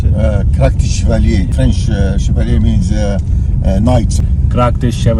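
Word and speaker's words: Krak des Chevaliers: इस गांव के जस्ट ऊपर ही Krakdes Chevaleres, how do you pronounce it? Krakdes Chevalier.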